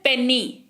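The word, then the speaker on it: penny: अच्छा, फिर है पेनी, पेनी, पेनी का मतलब होता है खुले पैसे। ठीक है, पेनी, है ना। तो पेनी वाई है लास्ट में, लेकिन उच्चारण ई के जैसा हो रहा है।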